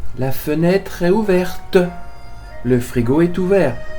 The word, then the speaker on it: ouvert: La fenêtre est ouverte. Le frigo est ouvert. So here, do not pronounce t. Don't say le frigo est ouverte, because we believe that frigo is feminine.